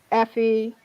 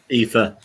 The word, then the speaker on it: Aoife: Okay, it really bothers me, obviously, that Ona, Effie, did I say it right? Aoife. Yeah. Oh, Aoife. I get it wrong as well. It's hard to say. It's Irish, isn't it, John?